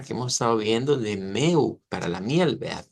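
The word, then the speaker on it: mel: como la palabra que hemos estado viendo de meu para la miel ve meu que se escribe m e l pero se pronuncia una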